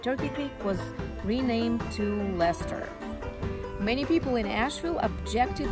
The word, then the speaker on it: Leicester: And yes, the correct way to pronounce it is Let's go to Leicester.